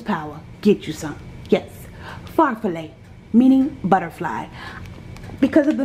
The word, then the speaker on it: farfalle: is called chicken of florentine and that is pronounced far fillet yes i googled it knowledge is power get you some yes pharfalay meaning butterfly because of the noodles the noodles